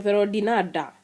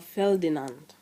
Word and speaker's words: Ferdinand: Mwingine atakwambia anaitwa Ferodinada. Sasa hii Ferodinada hii nilisikia mahali karibu na mimi, na nilirudi kujua kwamba kwa Kimombo inatakiwa kutamkwa Ferdinand.